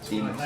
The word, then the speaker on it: Deimos: And the smaller one, which I always pronounce wrong, is it Deimos? Is that right? Deimos? Deimos, yeah.